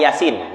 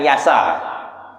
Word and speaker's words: Yasin: Nah, sama Yasin, bukan Yasa.